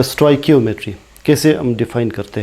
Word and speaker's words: stoichiometry: अब देखते हैं इस चैप्टर का लास्ट टॉपिक स्टोइकियोमेट्री, या हम आमतौर पर इसे स्टेचोमेट्री भी प्रोनाउंस करते हैं।